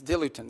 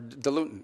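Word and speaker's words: diluent: things they need is dilutin or dilutin depending how you want to pronounce it.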